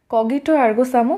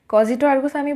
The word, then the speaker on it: cogito ergo sum: কজিটো আরগোসাম এই শব্দটাকে কিন্তু তোমরা কগিটো আরগোসামও বলতে পারো দুটোই সঠিক তো আজকের পুরো ক্লাসটাতে আমি কজিটো আরগোসামি বলবো কিন্তু কেউ যদি কগিটো আরগোসামো বলে তাতেও কিন্তু কোন অসুবিধা নেই প্রোনাউন্সিয়েশন ভিন্ন ভিন্ন দেশে ভিন্ন ভিন্ন রকম তাহলে শুরু করছি পাশ্চাত্য